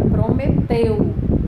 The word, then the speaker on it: prometeu: Também encontramos destacada no texto a palavra prometeu. É uma palavra de 3 sílabas, cuja sílaba tônica é teu.